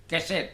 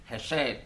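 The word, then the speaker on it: חסד: Walaupun itu sebenarnya KH di situ, tapi bacanya heset ya. Keset. Biasa orang lidah Indonesia mengatakan itu keset, tapi heset.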